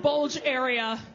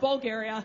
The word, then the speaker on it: Bulgaria: It's not pronounced bulge area. I was corrected. It's pronounced Bulgaria.